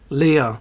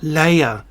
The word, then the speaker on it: Leia: I don't know why you Americans mispronounce words. I don't. Je ne comprends pas. Leia, not Leia.